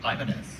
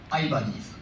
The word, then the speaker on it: Ibanez: uh in Japan the where our headquarter is is uh I'm going to pronounce this in like a Japanese way so don't freak out. I bunnies.